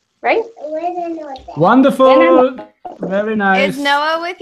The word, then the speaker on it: buonanotte: Buonanotte? Yes. Buonanotte, yes. In Spanish you say buena, no? Yes. In Italian buo.